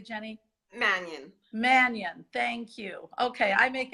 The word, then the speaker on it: Mannion: course Jenny yes blue good for us alright Manian pronounced that correctly Jenny Mannion Mannion thank you okay I make everything sound like